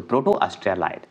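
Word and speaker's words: Proto-Australoid: ऑस्ट्रा लाइड होते हैं ऑस्ट्रा लाइड बोला जाता है ठीक है लाइड को अलग कर दीजिएगा ठीक है लाइड तो ऑस्ट्रिया लाइड होंगे तो प्रोटो ऑस्ट्रिया लाइड ये शुद्ध उच्चारण है चलिए आगे चलिए 23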